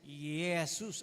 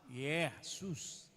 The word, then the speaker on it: Yesus: Tapos s O s Yesus ang pronunciation. Malapit sa Y. Yesus 'di ba?